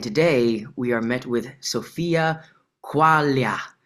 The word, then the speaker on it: Sofia Quaglia: And today we are met with Sophia Qualia.